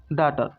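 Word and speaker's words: daughter: पढ़ना है आर को तो क्या हो गया डॉटर क्या हो गया डॉटर और क्या हो गया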